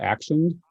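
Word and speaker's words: Axioned: tech solutions agency called action it's spelled it's like action but with an x so it's ax i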